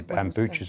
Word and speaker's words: Bucha: Bucha's an area, sorry. Oh, Bucha. Bucha is his pronunciation.